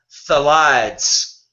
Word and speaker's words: phthalates: Now, you also see something called phthalates. pH is silent.